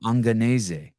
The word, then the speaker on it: Angonese: Angonese. Angonese. Oh, I like that. Angonese.